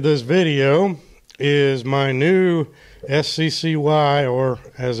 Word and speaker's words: SCCY: the subject of this video is my new seccy or as it's pronounced Sky Industries CPX 2 generation 2 9mm pistol uh